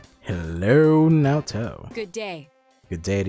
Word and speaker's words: Naoto: umbrella now toe hello naoto rhymes with hello a third choice huh